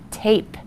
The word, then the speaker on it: tape: the word is tap if we add the silent e it makes the a say a and my new word is tape so remember the rule